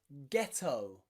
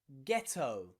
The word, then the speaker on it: ghetto: word and it's followed by the letter h it means the h is silent okay and the g is pronounced okay think of words like ghost ghost or ghetto ghetto and even gherkin gherkin